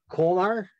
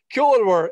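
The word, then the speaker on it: ceolmhar: The Gaelic word is spelled Coelmhar, pronounced Colar. Ceolwar, it means musical. Like ceol is the Gaelic for music, and then ceolwar means musical.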